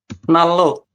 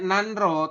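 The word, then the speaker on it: 난로: Jadi Nalo. betul. Tulisannya nanro, tapi kita bacanya adalah nalo.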